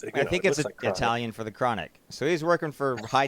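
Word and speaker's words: Cronache: very influential liberal newsweekly called chronic no it sounds like chronic it's spelled I'm serious okay listeners c r o n a c h e so he was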